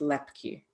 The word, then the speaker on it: Loeppky: say your last name it's the only occurrence of the silent o in the English language that I'm aware of so it's pronounced lepy oh there's an o